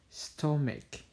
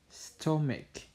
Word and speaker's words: stomach: So the correct pronunciation is stomach, stomach.